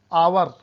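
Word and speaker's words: hour: आपने अक्सर सुना होगा आवर, हार नहीं सुनते, हावर नहीं सुनते, आर सुनते हैं, आवर।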